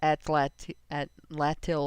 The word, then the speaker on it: atlatl: It's Atlatil, like Doc said, is how I pronounce it. Atlatl. I'm tempted to think it's South American because it sounds South American. Atlatl. Yeah, and I think it's something that I've heard pronounced the way you said it, not the way I said it. Where the second syllable is emphasized.